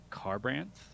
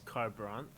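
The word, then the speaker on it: Kharbranth: would you spell it so just said his car Braun and I would spell it as K H AR b ra n th going with car kind of like : the K H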